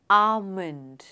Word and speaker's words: almond: आमंड, what is the correct pronunciation? आमंड. आमंड, यानी जो एल है वो साइलेंट है, और करेक्ट प्रोनंसिएशन है आमंड.